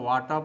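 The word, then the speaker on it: water: टी से ट होता है और दोस्तों यहां साइलेंट लेटर आर सबसे अंत में आता है। शब्द के अंत में आता है। दोस्तों वाटर को हम लोग अमेरिकन इंग्लिश में वाटर बोलते हैं।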